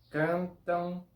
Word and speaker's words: cantam: Como por ejemplo, cantam, dançam, brincam.